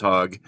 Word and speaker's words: Hogg: South of the Mason-Dixon in the United States, it would be pronounced Hogg. In the South, my family's actually very famous for mental health. But north of the Mason-Dixon line, that's the North and South here. All right. It's a long O as opposed to a short O.